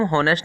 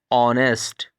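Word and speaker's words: honest: लेकिन होनेस्ट को हम होनेस्ट नहीं पढ़ते बल्कि इसको पढ़ते हैं ऑनेस्ट। ऑनेस्ट इसीलिए हम इससे पहले लगाते हैं एन।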